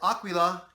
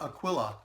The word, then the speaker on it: Aquila: keep in mind that aquila is the italian word for eagle and it's sounds more like aqua like like water not aquila it's aquila and this